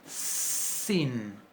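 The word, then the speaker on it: שׂ: Para que esta letra se pronuncie shin, se le coloca siempre, un puntito a la derecha, arriba, en la patita derecha. Y si le ponemos ese mismo puntito a la izquierda, se va a pronunciar sin, como letra S, como una letra S igual que la letra samej.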